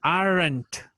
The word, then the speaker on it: aren't: Ahí sí pronunciamos la E y luego la N seguida de la T. O sea, aren't, ¿verdad? My favorite sports aren't soccer and tennis.